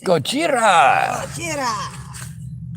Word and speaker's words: Gojira: because we're here on Twitch yeah I'm sorry Gojira all right Gojira Gojira and Mothra was probably